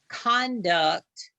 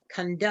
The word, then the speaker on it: conduct: So the first word, you can pronounce it conduct, or you can pronounce it conduct. Conduct. Conduct. Conduct or conduct. Conduct. You can put the emphasis on the first or the last syllable, either one.